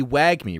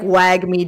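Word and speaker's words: WAGMI: to say it because it would be wag me right w-a-g-m-i and i've heard that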